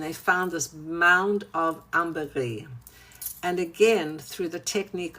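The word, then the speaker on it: ambre gris: So amberree it's actually pronounced in English amberress but in French amberree you don't pronounce the s.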